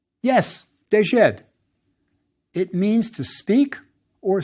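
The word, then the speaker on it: ḏd: Pronounced? Yes, dejed.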